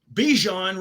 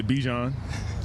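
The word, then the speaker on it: Bijan: How you pronounce my name is Bjon for everybody that's that's out there. Um, I know a lot of people say Bjon, but it's Bjon. Yeah. Bjon like Bjon mustard.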